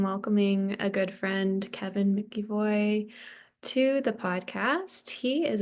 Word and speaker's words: McEvoy: My last name is McEvoy. I know it's not pronounced the way it's spelled, but it is McEvoy.